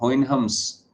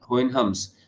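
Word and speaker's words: Houyhnhnms: इसकी जो first part है और लैंड ऑफ होइन हम्स स्पेलिंग देखेगी पूरी क्लास एच ओ यू वा एच एन एच एन एम होइन हम्स तो लैंड ऑफ होन हम्स क्या है इसका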